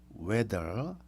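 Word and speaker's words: whether: or not 나는 모르겠다 weather 자 weather weather 자 발음은 날씨라는 발음과 똑같습니다 컨티뉴는 계속하는 것이고 비즈니스는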